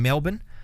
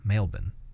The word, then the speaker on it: Melbourne: Uh, they're from Melbourne. Uh, make sure you don't pronounce the R very strongly.